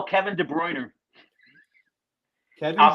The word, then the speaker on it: De Bruyne: Kevin De Bruyne. Kevin I'll D. spell it for you. Kevin, and then De Bruyne is De, and then Brune.